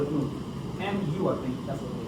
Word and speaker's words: Mu: Oh, The M, the letter M, but they pronounce it in a Latin way. yes. It's called it Mu.